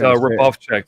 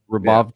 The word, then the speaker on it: Hrubovcak: It's Hrubovcak though. The H is silent. Okay. Hrubovcak.